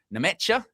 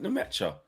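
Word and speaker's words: Nmecha: Felix Nemecha, is how you say that, is another name that was floated by a well-connected German source.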